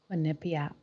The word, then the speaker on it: Quinnipiac: quinnipiac quinnipiac i've almost got it down just got it more mental has it phonetically spelled that there's a lot of vowels